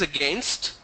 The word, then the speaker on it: against: Now some people in Karnataka and Andhra Pradesh, they pronounce that as against. Against. It is against the rule. I said it's not against, it's against.